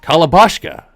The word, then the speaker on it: Kalabashka: Also, it turns out we've been saying this robot's name wrong this entire time. It's apparently actually pronounced Kalabashka, which is really fun to say.